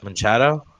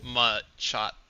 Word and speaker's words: Machado: All right, we're gonna Machado. Machado. How do you say his name? Machado. Machado. Like uh kind of like Machamp, but Machado.